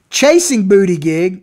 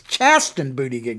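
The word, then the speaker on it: Chasten Buttigieg: his husband his husband chasing booty gig you know i mean i'm keep mispronouncing its chest and booty gig not chasing booty yet earn two column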